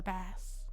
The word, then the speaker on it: bass: the vibration of the bass bass. Bass. The bath. The fish. I can feel the vibration of the fish. I don't know why it's spelled that way, but it's bass.